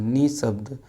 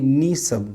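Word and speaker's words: निःशब्द: हिंदी नाकि अंगिका में विसर्ग में ह ध्वनि साफ साफ नाय होइ छै, जेना अंगिका में निशब्द, निशब्द, निशब्द न बोल के निशब्द बोल देते हैं। यानी ह उच्चारण होना चाहिए, जबकि ह उच्चारण साफ साफ नहीं करते हैं।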